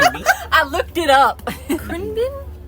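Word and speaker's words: Khruangbin: for airplane yeah be I looked it up CR Bean CR Bean CR bean bean everything in Thai is like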